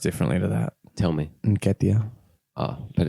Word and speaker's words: Nketiah: And, I think Nikita's an interesting one because I think obviously. it's pronounced differently to that. Tell me. Nketiah.